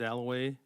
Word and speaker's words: Allouez: live in the area after being able to pronounce Alaway correctly I tell them Elway is a gem with the proximity to the